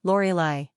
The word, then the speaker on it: Lorelei: three ranking popularity 501 pronunciation Lori Li simple meaning murmuring Rock